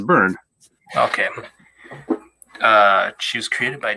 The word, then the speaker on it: Byrne: I don't know how to pronounce his name. Is it Byrne? Yeah, it's Byrne.